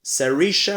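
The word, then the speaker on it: Saoirse: joue vraiment très bien sisha Ronan paraît que c'est comme ça qu'on prononce et bien en tout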